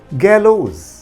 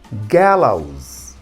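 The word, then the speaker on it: gallows: आम आदमी इसको कैसे पढ़ता है गैलोज, और सही प्रोनाउंसिएशन क्या होता है गैलाउज, गैलाउज, ओके।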